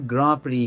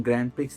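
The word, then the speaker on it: Grand Prix: यह वर्ड ग्रामप्री है जो कि एक फ्रेंच वर्ड है। इसका प्रोनाउंसिएशन ग्रैंड प्रिक्स नहीं है।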